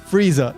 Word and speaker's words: Frieza: At the very least, the pronunciation of Frieza's name wasn't changed, so it's still Frieza.